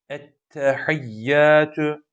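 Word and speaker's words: Ettehiyyâtü: indir çok sert bir şekilde vuracak Ente Ente Ettehiyyatü buradaki Hanım dikkat et hey hey lillahi Allah nasıl okunuyor ve sol sol E harfimiz buna dikkat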